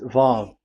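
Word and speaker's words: וָו: Vav. So it's V as in Vogue. So it's really V. How to read Vogue? So the word, the shape Vav is really pronounced V, like Vogue.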